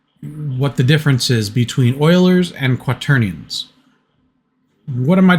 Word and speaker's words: Euler: These are called Euler rotations. E-U-L-E-R, it's spelled differently.